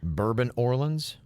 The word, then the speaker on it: Bourbon Orleans: kids you're right so should it be properly pronounced New Orleans no so that hotel is the Bourbon Orleans but it's actually New Orleans okay but it's